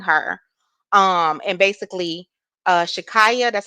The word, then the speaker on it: Shakyia: was actually leaving her um and basically uh Shakaya that's how you say it Shakaya she she